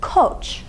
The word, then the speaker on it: koç: The word for ram in Turkish is koç. Koç. Let's look at the vowel in our only and final syllable. Okay, it's back, it's rounded. You round your lips when you say o.